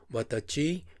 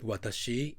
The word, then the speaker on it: watashi: When the plant manager of a major Japanese automobile company met technical trainees from Thailand, he heard them speaking watachi, jidoucha, instead of watashi, jidosha, I and automobiles, and said to the